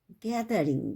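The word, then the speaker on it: gathering: গ্যাদারিং। গ্যাদারিং মানে জিতে গ হয়, দা টিএসতে থ অথবা দ হয়, এখানে দ উচ্চারণ হবে।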